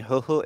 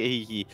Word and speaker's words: Huhu: As a reminder to people, the reason we're saying Huhu is because that is how it's pronounced in Chinese. That is, as I was told off for pronouncing it Hihi.